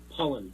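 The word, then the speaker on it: Pollan: Michael Pollock. Michael Pollock, that's Stephen Pollock. Pollen. Yep. I get his name wrong every time.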